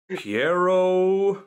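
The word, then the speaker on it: Pierrot: It's a psychological horror anime being made by Studio Piero. Dave. Is that how you pronounce Piero.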